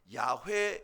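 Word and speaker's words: 야훼: 하나님의 이름은 여호와 이십니다 어쩌면 이 여호와 라고 우리가 지금 읽고 있는 이 말은 야외에 라고 있는 것이 더 맞는 발음 일 것이라고 많은 학자들이 얘기하고 있어요 하나님이 직접 설명하신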